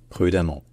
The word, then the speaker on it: prudemment: e de e nt il se prononce quand même amant donc urgent urgent prudent prudemment violent violemment et cetera ça se prononce toujours amant mais avec un e de